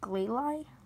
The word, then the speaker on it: Glalie: even know how to pronounce it Glalie it's clay lie Rhyhorn right on their